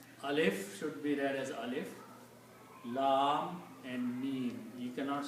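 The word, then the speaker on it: الم: The first ayat starts with the three letters and they are separate letters, they are recited separately. Alif, Lam and Mim. Even though Lam and Mim are written together, but when you read them separately.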